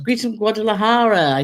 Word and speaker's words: Guadalajara: Greetings from Guadalajara.